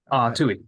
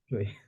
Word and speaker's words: Tuohy: So, apologize if I mispronounce this, but Tuohy? Tui, yep. That's good. Tui.